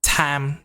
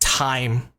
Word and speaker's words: time: a lot of Vietnamese people say something like Tam Tam right because in our language we have the sound a so we say Tam Tam right or Tam but actually this word is pronounced time right even if you say something like time